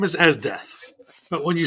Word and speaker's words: Esdeath: His name is Esdeath, but when you spell it out, it says Easy Just doing the Death. circle. It's called what? Okay. Yeah, it's pause. It's spelled EZDETH. His name is Esdeath.